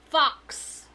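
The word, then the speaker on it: Fuchs: Fox. Oh, That's how it's pronounced, okay?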